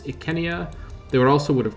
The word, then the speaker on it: Icenia: overboard with it but things like kenya instead of isenia i think makes it feel a bit more period appropriate of course the romans would have called this ikenia they would also would